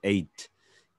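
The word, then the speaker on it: eight: Jadi bukan 8 ya. G dan H-nya silent atau tidak diucapkan. Jadi 8.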